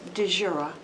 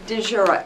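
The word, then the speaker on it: Dziura: DeJura. I live right on Chatel. Would you spell that, please?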